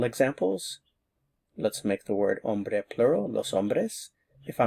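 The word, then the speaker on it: hombre: So, if I want to say the tall man, I would say ombre alto. El ombre alto. Remember the H is silent.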